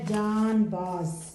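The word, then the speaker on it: جانباز: کریں۔ تو پہلا ہے جان باز، جان باز بولتے ہیں، یہ نون غنہ کی وجہ سے جین زبر الف جا، نون با زبر الف با، زے ساکن، جان باز، جان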